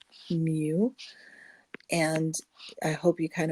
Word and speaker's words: mu: first one is you so the way you pronounce that it's a greek letter mu and i hope you kind of watched how